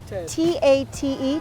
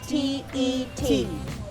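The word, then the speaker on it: Tết: T-A-T-E, Tate? T-E-T. Yeah, Vietnamese spell that like Tet.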